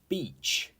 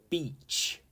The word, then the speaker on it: beach: Civ has really small tiny holes 32 is Beach and it's a simple word but this pronunciation is ah so many people get this wrong anyway the correct pronunciation is beach beach not means something else and and a